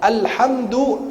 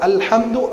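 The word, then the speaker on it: الحمد: Alhamdu asal dari hamada, ha mim dal, pujian. Kalau dibacanya hamada pakai ha, maka orang harus perjelas kalau baca Al-Fatihah. Alhamdu pujian. Kalau alhamdu pakai ha, kematian. Batal sholat kita.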